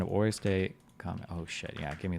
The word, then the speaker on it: hors de combat: Please be easy to pronounce. Don't make it cringe. Just don't make it cringe. Hors de combat.